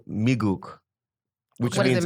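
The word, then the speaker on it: 미국: No, Migook. No, Migook. it's how you say it. Migook or migook. You know what I mean? There's two different ways of saying So it.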